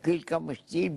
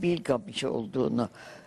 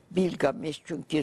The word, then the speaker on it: Bilgamış: Gılgamış'ın adının bir şey olduğunu, Türk adı olduğunu, Gılgamış değil Bilgamış olduğunu gördüm. Bilgamış, çünkü Sümerler'de Bil ve Gil aynı işarettir.